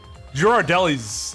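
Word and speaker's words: Ghirardelli: Is it the hard G? Girardelli? Not Girardelli.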